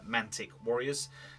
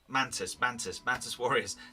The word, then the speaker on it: Mantis Warriors: one, where I'm facing off against the Preacher's Mantic Warriors. Now, the Mantic Warriors, or am I saying it right? Mantis Warriors.